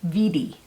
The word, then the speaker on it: Wedi: over what exactly is vd board first of all it's manufactured in germany so it's actually pronounced vidi the official description of